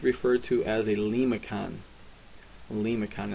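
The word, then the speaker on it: limaçon: Lemicon, it's pronounced lemicon. That I has got like an E sound to it.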